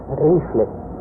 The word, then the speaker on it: Riefle: É, a gente escreve Riefle, pronuncia Rifle.